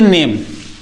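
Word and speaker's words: name: पढ़ा ही नहीं जाता यदि कभी भी किसी शब्द के अंत में इ आ जाता है तो इ को नहीं पढ़ा जाता है। ठीक है? चाहे जो शब्द हो आप चाहे जहां देख सकते हो तो इसे हम क्या पढ़ेंगे? नेम।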